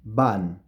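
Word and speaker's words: van: of words bar and ban so you see that it's the same sound and the sound that I am producing is a bilabial this is the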